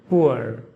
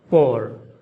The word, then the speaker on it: poor: it with two syllables, pooer, pooer, and that's also fine. But the most common way is with one syllable, pour. Same pronunciation like P-O-U-R and P-O-R-E, different meanings but same pronunciation like P-O-O-R.